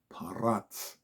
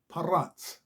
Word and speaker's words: פרץ: Hebrew word of today it is parat parat spelled with a P A and A Sadi p r and Sadi parat parat okay so